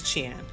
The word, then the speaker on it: 钱: So here we have money, and the way you say money in Chinese is qian. So I may not be pronouncing that 100% correctly as far as my tone, but it is qian.